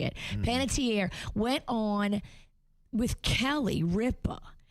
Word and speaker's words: Panettiere: Well, Hayden Panettiere is how you say it. Panettiere went on with Kelly Ripa and was talking